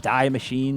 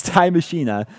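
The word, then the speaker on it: Die Maschine: i hope i'm pronouncing oh pronounced dai mashina it's dye machine thank you for after making me read it eight times they're finally telling me how to pronounce it but it's ty mashina uh for all you non-german speakers out there like me uh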